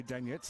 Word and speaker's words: Danet: danet and Courtney danet she pronounces that danc her parents say danet and so I go full on polish for her taken by Clark began